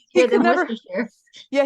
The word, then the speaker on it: Worcestershire: is He easier could than never, Worcestershire. yeah, he could never pronounce it, so he just calls it Westchester sauce.